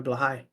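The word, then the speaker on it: Blåhaj: I got one on my shirt, my Blahai. Okay, thank you for the pronunciation.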